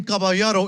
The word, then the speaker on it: caballero: In Spanish, the double L makes a yeah sound. The ER makes a the sound.